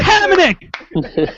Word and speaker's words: Hamonic: But name some Islanders whose names are always mispronounced on NHL consistently. Hamonic. Travis Hamonic, yes. It's Hamonic.